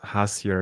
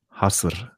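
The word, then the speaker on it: Hasır: And by the way, it's not called Hasir, it's called Hasr.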